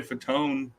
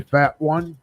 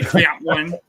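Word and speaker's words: Fatone: McLean and uh Joey faton uh concert the it's it's pronounced Joey fat one Joey fat one and AJ McQueen McQueen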